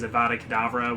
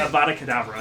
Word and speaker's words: Avada Kedavra: I always think this about, like, Harry Potter, how, like, some of the evil wizards are a big deal because they use Avada Kedavra, which they just point their wand and kill somebody, but, like, Muggles have a thing like that.